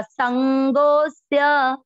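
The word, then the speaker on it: सङ्गोऽस्य: इसमें संगोस जो लिखा हुआ है ये स्य के पहले यहाँ पर एक अवग्रह आएगा, आप बोलते हुए भी उच्चारण करते हुए आपको लग जाएगा संगोस्य, गो को अपन खींच रहे हैं क्योंकि यहाँ अवग्रह है इसमें नहीं है, आप इसमें ऐड कर लें।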